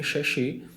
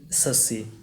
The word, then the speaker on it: Shashi: And when I went there, the receptionist, she asked me, Shashi, what's your name? So I said, Sassi.